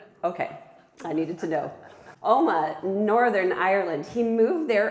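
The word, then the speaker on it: Omagh: Oma, Northern Ireland.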